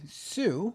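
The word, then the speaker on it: Hsu: It says, so this was survey of consumers director Joanne Sue. I'm going to guess that the H is silent.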